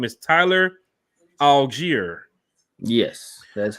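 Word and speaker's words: Allgeier: of the draft but his name is tyler algiere yes that's right 151 was the pick round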